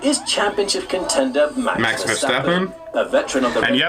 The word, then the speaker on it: Verstappen: It's Verstappen. It's like with an F, not a V. Verstappen.